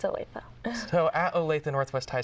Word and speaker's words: Olathe: How is it pronounced? It is Olathe. I hear that a lot, though, different pronunciations. But yes, it's Olathe.